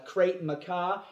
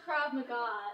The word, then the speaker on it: Krav Maga: I hate to disillusion you, but a belt in this crate macaw is really only good for about one thing, and that's holding up my trousers after Thanksgiving dinner. No, it's pronounced Krav Maga, not...